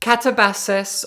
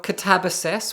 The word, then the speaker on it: Katabasis: Catabasis, or Catabasis, whichever way you prefer to pronounce it, both are valid, just like Babel and Babel, is the newest novel by Chinese-American author RF Kuang, my favorite author writing today.